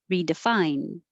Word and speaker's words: redefine: filled 28 redefine again i'm not going to release the d redefine evolutionarily evolutionarily temporally temporally